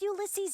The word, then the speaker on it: Ulysses: Why would Ulysses know anything?